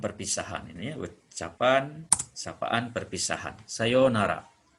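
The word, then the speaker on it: さようなら: ini ucapan sapaan perpisahan Sayonara ini bunyi panjang ya yo pakai yonara kalau Sayonara mungkin selamat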